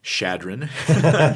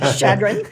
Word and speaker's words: Chadron: So for everyone, that's Chadron. Chadron.